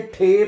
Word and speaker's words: T: टी को टी नहीं पढ़ना। टी को आपने ठे पढ़ना है।